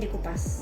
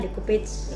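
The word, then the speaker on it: découpage: sini kadang-kadang orang sebutnya decage decage decage ya decatah sebetulnya kalau dari e aslinya dari Prancisnya bacanya dekopas dekopas dekopas dekopas ini adalah proses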